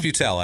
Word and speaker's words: Butel: Was it Butel? It's Butel, actually, but that's fine.